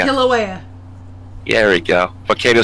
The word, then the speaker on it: Kilauea: residents waited for a possible major eruption at Kailua. Is that how you say it? Kilauea. Kilauea.